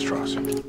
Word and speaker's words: Strauss: It's pronounced Strauss.